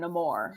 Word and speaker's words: Namor: So apparently, according to critics who have screened the movie, everyone calls him Namor.